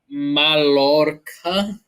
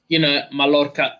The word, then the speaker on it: Mallorca: Mallorca is, I think, how it's pronounced. Mallorca.